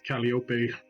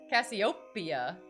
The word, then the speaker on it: Cassiopeia: did you say um when i first read the blurb i thought it was cassiopeia it's like the name uh uh calliope i i first pronounced it as calliope there you go cassiopeia yeah there you go